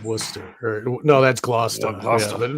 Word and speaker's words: Worcester: Gloucester is how it's spelled, but it's Wooster. No, that's Gloucester. But yeah, Wooster. Wooster. Worcester is Wooster, yeah.